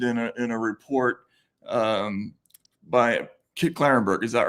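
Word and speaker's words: Klarenberg: I'm all over the place these days, but yes, I did come up in a report by Kit Carenberg. I said Kit Carenberg. Sorry, Kit Clarenberg.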